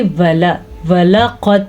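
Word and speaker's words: وَلَقَدْ: तो इसको हम पढ़ेंगे वलक़द तरकनाहा। अच्छा जी, दाल जो है ये साइलेंट है क्योंकि दाल नहीं पढ़ी जाएगी बल्कि ता पढ़ा जाएगा, तो इसलिए कलकला नहीं होगा।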